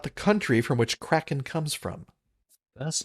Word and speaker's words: Kraken: Number six, Kraken. Not the John Wyndham novel. Is it spelled the same way? K R A K E N. Yes. Oregonians would say Kraken, but it's actually Kraken.